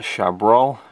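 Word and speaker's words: Chabrol: we have a couple of films there by shab that's how you pronounce his name and then we get to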